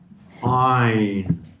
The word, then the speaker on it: עין: C'est-à-dire, alors d'abord la lettre Ain se prononce avec la gorge, d'accord? Ain.